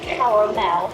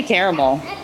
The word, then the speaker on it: caramel: Well, I would say caramel. You pronounce it different. Over to you. I say caramel. Caramel. Yeah, caramel. But there are certain Americans who would just pronounce it with two syllables.